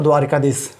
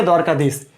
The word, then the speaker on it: द्वारकाधीश: द्वारकाधीश और द्वारिकाधीश, बताइए फटाफट कौन सा सही है? जल्दी बोलो, कौन सा? यस यस, आई am listening you. कौन सा सही है? द्वारकाधीश या द्वारकाधीश? तो यहां आपने देखा है कौन सा? द्वारकाधीश, न कि द्वारिकाधीश।